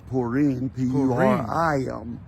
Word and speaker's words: Purim: uh ask and ask you call it Purim uh Forum p-o-o-r-u-m uh us a party such as myself would call it uh purine which is more of the correct pronunciation but we won't argue